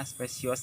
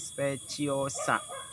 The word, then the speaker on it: speciosa: Jin speciosa nyebutnya special saya dulu saya suka bilangnya spesies tak enaknya kayak gitu ternyata cara membacanya kalau Jin speciosa Anggrek ini banyak atau